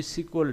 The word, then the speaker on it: SQL: कि RDBMS इसको support करता है, और पोस्टग्रे एसक्यूएल भी इसको सपोर्ट करता है। दैट्स व्हाई जो भी डेटाबेस होता है उसको एसक्यूएल या फिर कोई सिक्वल डेटाबेस कहा जाता है इसको।